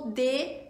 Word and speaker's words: de: Temos o DE, que se pronuncia fechadinho, tá? D, ainda é um E, mas se pronuncia fechado.